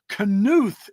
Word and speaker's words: Knuth: Knuth is how I've heard his name pronounced, Knuth, all of which I've done videos about.